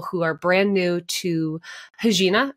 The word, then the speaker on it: Regina: Am I saying it right? Yes. You're actually crushing it. Most people are like, what? It takes them a moment. You got it right out of the gate. It's the Portuguese version of your name, correct?